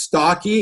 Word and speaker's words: Stokke: a couple different ways is it pronounced stalky is that how it's pronounced yes yes II love